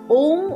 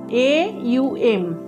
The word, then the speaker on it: ওম: এর ভাইব্রেশন পাই তো আমাদের এই ওম উচ্চারণ না করে ওম এ ইউ এম এইভাবে আমরা উচ্চারণ করব এবং ম টাকে আমরা চেষ্টা করব দাঁত বন্ধ করে তলপেট পর্যন্ত ম এর ভাইব্রেশনটা আনার তাহলেই কিন্তু আমরা সম্পূর্ণ